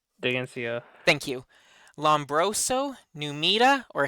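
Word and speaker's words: Dheginsea: Is it, I can never pronounce this guy's name, Dagency? Degnesia? Digencia. Digencia.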